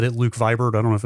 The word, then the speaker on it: Luke Vibert: It is Luke Vibert.